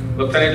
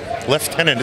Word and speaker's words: lieutenant: Lieutenant, it's still the British. That's right. But it's spelled lieutenant? It's spelled lieutenant, but it is lieutenant. It's a British Commonwealth tradition, and we're very proud of that.